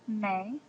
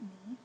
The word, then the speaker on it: me: as follows you have May so in Spanish it's pronounced may not me so may you would